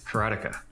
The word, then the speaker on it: Karateka: lot of people say karatica or karatica in Japanese uh there's no stress on any syllable so it would be